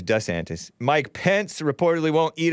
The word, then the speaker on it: DeSantis: Ronda Sanctus who reportedly changed the way he pronounced his name the way his wife Casey preferred saying it DeSantis rather than D santis Ron D santis he used to call himself but she prefers D antis Mike Pence reportedly won't